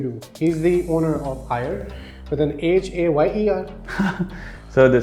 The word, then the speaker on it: Hyer: He's the owner of Hire with an H-A-Y-E-R. So the spellings are HYER. H-Y-E-R. Yeah. Oh, So okay. hire basically is ये original spellings हैं। जो हायर हमारा होता है ना HIGHER, हायर। Hire.